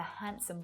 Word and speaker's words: handsome: I had the most delicious sandwich last Wednesday when I was on a date with a handsome boy. What letter is the silent letter there?